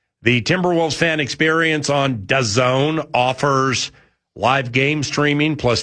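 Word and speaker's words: DAWN: Uh, and it's Well, I guess according to the press release, uh, you pronounce it Don. Oh, Don.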